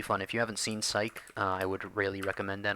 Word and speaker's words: Psych: If you haven't seen Psych, I would really recommend that. I'll type it out because it's spelled weird. It's P-S-Y-C-H, sort of like Psych.